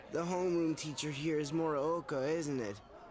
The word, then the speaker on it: Morooka: The homeroom teacher here is Morooka, isn't it? I legit was expecting them to pronounce it Maruka.